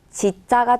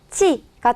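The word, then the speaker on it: 地: 땅, 지자가 되고요. 지를 의미하는 음독, 지 또는 치가 되겠습니다.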